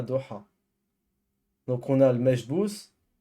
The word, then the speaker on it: Doha: Ça se prononce Doha. Doha.